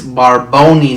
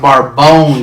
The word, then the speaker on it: Barboni: you than you spell it's barboni not bar bone you